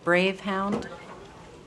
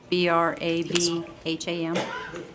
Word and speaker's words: Brabham: first paragraph it says jan bravehound i think her name if you'll check back was brabham b-r-a-b-h-a-m it's it's brabham yeah okay spelling's correct